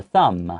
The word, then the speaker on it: thumb: index 在英文没有指的那个意思，对。So it's a different concept, 不一样的概念。And then this is the thumb. 对， okay. 这个字比较难念，嘴巴闭起来。因为 T-H-U-M-B, even though it has a B, the B is silent.